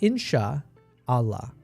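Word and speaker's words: إن شاء الله: They pronounce it a different way. It's like inshallah. It's like insha Allah. Right. So, it's got Allah in the in the name, which means God.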